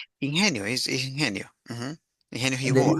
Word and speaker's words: ingenio: Yeah, I remember there is I don't know how do you say ingenio. Ingenio is Ingenio.